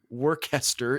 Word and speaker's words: Worcester: invented in the city of sure in but it's spelled both ways the city is w-o-r-c-e-s-t-e-r work Esther in Worcestershire England so it's both oh my